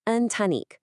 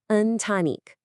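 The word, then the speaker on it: ընտանիք: In Armenian, it's antanik. And it's pronounced. Let's say that again a bit slower. Untanique.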